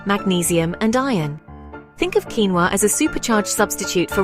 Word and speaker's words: quinoa: Pronounced quinoa, these are tiny, bead-shaped seeds that can be white, red, or black.